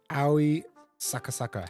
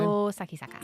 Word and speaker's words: Io Sakisaka: This is Aoi Sakasaka. How do you say her name? Io Sakisaka.